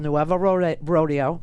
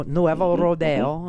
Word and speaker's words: Nuevo Rodeo: club it was called nueva rodeo right no nuevo rodeo okay to say it properly and uh outside security